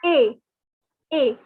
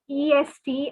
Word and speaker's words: est: So even though the spelling you can see as EST, and it is, you might be thinking it is est or east or some other weird pronunciation, but they have decided not to pronounce the S and T and to make our lives difficult. So instead of saying est or anything, it is pronounced as A.